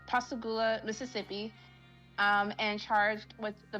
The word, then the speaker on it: Pascagoula: In 1982, he was arrested in Pascagoula, I think that's how you say it, Pascagoula, Mississippi, and charged with